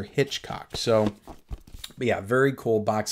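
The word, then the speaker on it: Hichcock: It kind of looks like it says Dr. Hickok, but it's supposedly pronounced Dr. Hitchcock.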